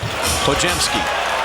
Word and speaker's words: Podziemski: Nation with with Brandon don't look at the spelling of his last name it's pronounced hsky just pretend the D and the Z are a j I love his name